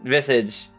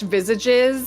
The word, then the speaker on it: Visage: So, when you beat the boss in Visage, I believe that's how you pronounce it. You can call me out anytime I mispronounce something. That's totally fine. I used to English visages, but it would be visage.